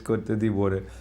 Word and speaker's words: Côte d'Ivoire: I was finding it difficult to pronounce it. Yeah, it's Côte d'Ivoire.